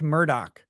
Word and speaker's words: Murdaugh: name is spelled Alex murdaugh and it's apparently pronounced Alec Murdock yeah so I I don't know that's it's